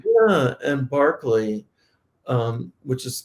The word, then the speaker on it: Berkeley: know exactly how ancient latin and greek were pronounced i mean right instead of cicero right yeah and barkley um which is called um berkeley you